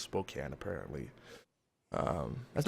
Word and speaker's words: Spokane: but it's actually pronounced Spokane apparently um that's not very phonetically friendly either because there is a e at the end there you would assume a hard a sound but no but H